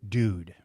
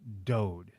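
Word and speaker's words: Dood: I called him Nick Dude. He did not correct me. So throughout the entire podcast, I called him Nick Dude is it's pronounced Dode.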